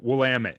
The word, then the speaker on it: Willamette: Willamette.